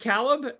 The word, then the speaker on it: Caleb: welcome my uh Cal is it calb calb I say it right Caleb yes you get it Caleb